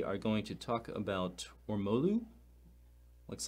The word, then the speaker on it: Ormolu: I was like, how do you pronounce that? It's apparently Ormolu, and it's the 18th century gilding technique for applying finely ground high carat gold mercury amalgam.